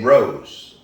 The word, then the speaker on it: Rose: Oh, not Rose. No, Rose. That's I got him. He didn't say my name right. I Boy. haven't Rosen here in a while, but it's Rose, of course.